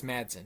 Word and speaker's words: Madsen: todd man virginia madsen i believe is how you say her last name was and marts and marston i think it's madsen virginia madsen uh but